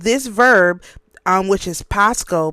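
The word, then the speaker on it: πάσχω: verb um which is Pasco P A S C H O that's how it's pronounced or that's how it's said in Greek.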